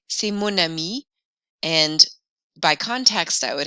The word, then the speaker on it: mon ami: So mon ami, my friend, notice we pronounce the N sound more in mon to bring those sounds together. Mon ami, ton école, son histoire.